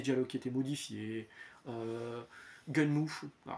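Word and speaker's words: Gunnm: qui étaient modifiés euh gun Mo certains disent gun moi je dis gunm c'était c'est gun and machine et à la prononciation à la japonaise c'est gunm donc je dis gunm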